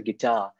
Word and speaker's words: guitar: Anyways, so অল দ্য, আই এম not promoting my singing and music at অল, গিটার বানান, GUITAR, উচ্চারণটা হচ্ছে গিটার, গিটারে দেখো দুইটা syllable.